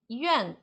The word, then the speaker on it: 院: Então, Yuan, Y-I, Yuan, Y-U-A-N, Yuan, hospital.